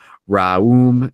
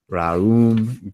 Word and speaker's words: Raom: Raum Gaum. That's R-A-O-M G-A-O-M. Raum Gaum. Each word is divided into 2 syllables. One must accentuate the vowel O.